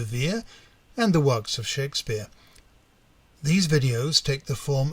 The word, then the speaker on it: Shakspere: For those of you wondering why I pronounce the name as Shakespeare, it's because I'm using the spelling on his baptism entry. In his personal life, the man from Stratford never spelled his name with an E after the letter K.